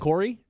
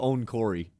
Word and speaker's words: Okorie: I mean, first and last name wrong. It's just this is just gonna be a fun Ebuka test. Okorie? Yeah, there you go. You said Ebuka on Corey.